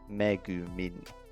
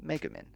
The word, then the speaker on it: Megumin: So it's megumin in English, but megumin in Japanese, because we separate it differently.